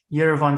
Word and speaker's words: Yerevan: something yeah yes yes mostly it's it's yerevan haibusaki university not yvonne state but that's okay okay